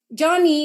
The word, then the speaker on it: Joni: pwede kong i-share and Joni spell j o i j o n i is pronounced johnny because she's named after her Dad John and yun Iyung yun